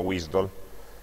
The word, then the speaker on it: WSDL: sono sop e wsdl sop alcuni le pronunciano wisol sop è lo standard